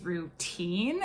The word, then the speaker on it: Rootine: The last one that I'm going to mention though is Routine. It's spelled like ROOTINE.